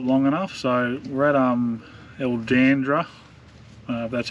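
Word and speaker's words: Erldunda: we couldn't stop long enough so red um el dandra that's how you pronounce it up in the uh northern territory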